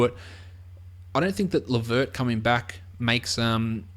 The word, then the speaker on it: LeVert: coming back makes um I feel like L verd is just definitely not the right pronunciation I know it is but it just does not feel like it's right at all feels like it's been um Ang sized I feel like it's